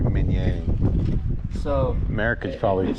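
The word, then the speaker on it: Minié: And then the mini ball is like the Americanized version of Minier.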